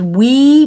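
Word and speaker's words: oui: and i'm saying that because we means yes in french but also because we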